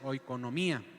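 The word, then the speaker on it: οἰκονομία: Y en el griego mayordomía se escribe ahí como lo ven ustedes y se pronuncia oikonomía. Se pronuncia de esta manera en el griego y es una palabra compuesta y habla de administrar una casa.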